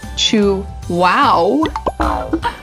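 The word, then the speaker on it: Chuao: Chew-ow, pronounced chew-wow, is to chocolatiers like Mount Everest is to climbers.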